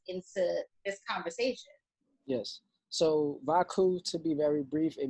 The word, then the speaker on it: Vaku: Then the KU is pretty much an artistic blend between cuckoo and chaotic.